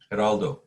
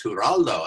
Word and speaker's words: Geraldo: was his name gerald only in spanish how do you say it geraldo geraldo so he says i said hi gerald he said no it's huraldo and i said oh